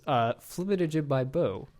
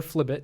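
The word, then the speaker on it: flibitijibibo: But the correct pronunciation, if I could pronounce that phrase correctly, is Flibbit by Bo. Flibbit by Bo. Or Flibbit.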